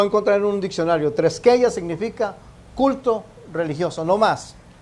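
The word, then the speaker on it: θρησκεία: La palabra religión es la palabra treskeia, se escribe TH treskeia con K, THR treskeia, y la palabra simplemente significa un culto religioso.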